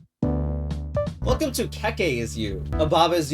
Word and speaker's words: Keke: Well, if the intent was to pronounce it Kiki, why doesn't it look like this? Or this? But still, no one calls that meme frog Peep either. Also, the Baba Is You creator calls it Keke.